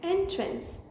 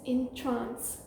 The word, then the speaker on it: entrance: next word is this one of the pronunciations is entrance which means a doorway for example please use the site entrance to the building the second pronunciation for this word is in trance which means to Mesmerize for example the magician